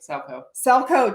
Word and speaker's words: Salchow: And today we're super excited to have our finale guest on, Amanda Salchow. And she is like... Salchow.